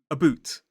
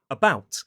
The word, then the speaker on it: about: And I instantly corrected him and said about but what's really fascinating about that is actually that sounded like the pronunciation in some Scottish accents and some Canadian accents.